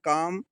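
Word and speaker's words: calm: अगला देखिए काम। इसको हम काल नहीं पढ़ेंगे क्योंकि एम के पहले एल आया है।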